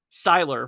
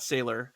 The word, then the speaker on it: Seiler: Much love, Owen Seiler, pronounced Seiler, not Sailor. Have we said I've Sailor been before?